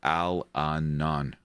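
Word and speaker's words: Allanon: series by Terry Brook it's pronounced Al Anan he was a badass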